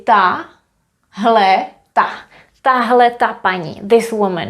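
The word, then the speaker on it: tahleta: We would say ta, hle, ta. Tahle ta paní. This woman here. Tahle ta paní.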